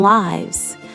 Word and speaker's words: live: Live as a verb pronounced like give with a short i sound means to have life or to reside somewhere.